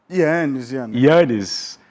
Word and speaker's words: Ianez: Como é que é a outra pronúncia? Ianez.